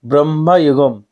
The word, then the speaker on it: Bramayugam: উচ্চারণ ঠিক করলাম, ব্রহ্মায়ুগম।